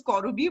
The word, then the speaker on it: Karabi: Can I call you Karabi if that is fine? Surely. Actually, we are Bengali, so we pronounce it as Korubi, but no problem.